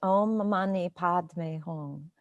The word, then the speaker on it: Om Mani Padme Hum: And it's pronounced Om Mani Padme Hum.